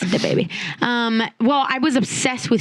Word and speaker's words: DaBaby: You got to say it how it's spelled for sure. Can't say the baby. Yeah. It's DaBaby.